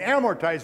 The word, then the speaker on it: amortize: principal and interest, if you take the time to amortize that loan, and amortize, remember, is a three-syllable word.